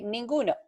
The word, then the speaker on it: ninguno: So in this case, we can say ninguno. Ninguno. Ninguno is Ninguno. Ninguno. We can spell it like Neen, GOO/NOH.